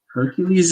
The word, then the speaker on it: Hercules: little tidbit for you Hercules is the Latin pronunciation of it which means that it's fake it's literally the Romans